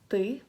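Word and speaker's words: ты: But in this word, it's ty, and that means you, informal.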